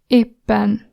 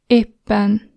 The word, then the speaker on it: éppen: Note that in Hungarian the emphasis is always on the first vowel in any word, which means when you pronounce, you press the first vowel more longer or stronger, like in the word éppen, éppen. So E gets the emphasis.